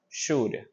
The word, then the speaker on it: should: be L here okay the L doesn't sound should and negative four you